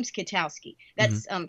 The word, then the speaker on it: Kwiatkowski: was in the Pentagon yo my name is Kotowski that's um K plus ten other letters that nobody wants to pronounce and so my nickname in the Pentagon